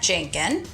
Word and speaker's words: Jankun: Hub of Apopka we're with Melanie and Matt Jenkin I say it right you did it good